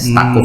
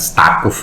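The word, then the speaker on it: Staquf: Itu kan sebenarnya Saquf itu bacanya Saquf ya. Satu wazan sebetulnya dengan adiknya Yakut, Yakut Saquf. Kalau tidak salah ini, mudah-mudahan saya tidak salah, tapi jelas bukan Stakuf itu bacaannya.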